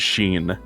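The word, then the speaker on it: シン: Apparently in Japanese his name is Sheen.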